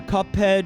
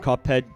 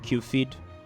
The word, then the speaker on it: Cuphead: Does anybody else see the word Cuphead and pronounce it Q-feed?